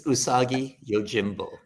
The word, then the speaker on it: Usagi Yojimbo: how do I pronounce is it usagi yojinbo is that the right way to say it it's usagi Yojimbo okay because we were